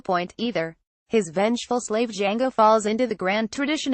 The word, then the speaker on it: Django: his far-out threads he's Django remember the name the D is silent cb4 jackie brown jackie